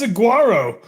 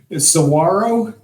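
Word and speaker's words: saguaro: Come to find out that's not pronounced saguarro. Sawarro.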